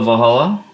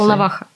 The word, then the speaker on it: Volnovakha: All right, so we went to Valhalla, to the hospital. Is that how you say it? Volnovakha.